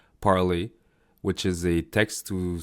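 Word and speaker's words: Parler: It's parley parlay which is a text to speech model. So well parley in French means speaking. So I guess that's what's the intended pronunciation. So parley.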